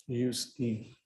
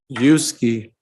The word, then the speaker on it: Utsey: How do you pronounce the gentleman's last name? Yuski. I need you to take your mask off or. Yuski.